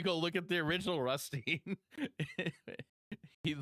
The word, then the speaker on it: Rutstein: Yeah, it's is it pronounced Rustine or is it Rustine? I always say Rustine. Stein and Steen, you can say them either. They're okay.